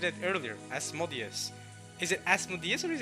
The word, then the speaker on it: Asmodeus: Asmodeus probably makes the most sense, though. Asmodeus. It is closer to the ancient Greek.